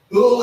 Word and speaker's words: hooah: Hooah is spelled H-O-O-A-H, but most of the time you would hear a person say hooah.